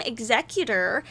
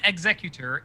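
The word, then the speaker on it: Xecuter: organization known as team executor sounds like the pokemon but not spelled the same way have been arrested and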